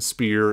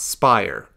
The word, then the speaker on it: Spear: it rolls n FYI it is pronounced spear like s like like in speed it's like pronounced like that except it's spear not Spire spear let's just make sure we get that clear spear not Spire so and then to